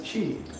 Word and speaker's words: tree: We pronounce tree as chi.